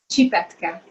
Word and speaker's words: Csipetke: How do you pronounce these noodles again? Csipetke.